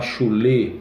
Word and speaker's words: chulé: Então o que você está vendo aí, assim como um de café, né? Deve ser pronunciado aberto, tá? Então o acento agudo ele serve para isso, para indicar esse timbre aberto, tá bom?